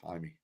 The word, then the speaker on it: Jaime: It's Jaime. It's Jaime. Okay, so I've been saying Jamie for like 2 years.